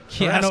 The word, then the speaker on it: Keanu: I had to relate to Reeves to get the pronunciation of his name right.